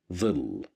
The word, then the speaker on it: ظل: Here we have the little dha at the beginning of the word, and it's controlled by kasra. So that's why we pronounce it as the, ظل.